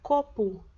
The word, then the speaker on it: copo: Então, você vai perceber que a palavra copo, a maioria das pessoas pronuncia como se tivesse U no final, mas na hora de escrever é copo.